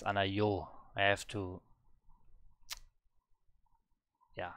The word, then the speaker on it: 않아요: But I always say anayo. It's anayo.